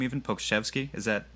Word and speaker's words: Pokuševski: As long as you brought his name up, do you want to talk about how do you pronounce his name even? Pokuševski, is that correct?